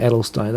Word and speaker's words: Adelstein: face uh Jake adelstein it is definitely adelstein I've been mispronouncing his name all this time I'm sorry about that